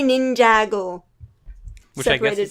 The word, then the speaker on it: Ninjago: The graphic design's fantastic except for the title, and I keep on reading it as Nin It Go. Oh, those are supposed to be words? It's supposed to be Ninjago.